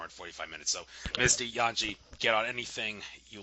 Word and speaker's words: Jangee: Jangee. Jan. The J is pronounced a Y.